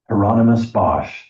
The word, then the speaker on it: Hieronymus Bosch: He tried to teach me to say the painter's name, Hieronymus Bosch. Rhymes with anonymous, he told me.